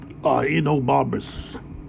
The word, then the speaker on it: Ahenobarbus: How do you pronounce that guy's name? Enobarbus. Enobarbus.